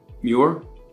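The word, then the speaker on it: Muir: what did you say your name was again mure spell that mu u i r m David mure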